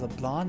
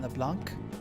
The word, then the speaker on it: Leblanc: Oh, I was already pronouncing the C, but it's LeBlanc, not LeBlanc.